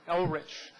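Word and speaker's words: Elrich: don't let mark speak at least we can pronounce his name correctly it's mark L rich and he's a city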